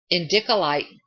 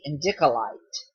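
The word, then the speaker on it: indicolite: you to change your thoughts on a manner endicolite gives you Faith In Yourself enhancing your creativity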